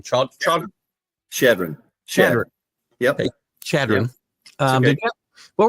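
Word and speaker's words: Chadron: I'm going to say the name wrong. Shadron.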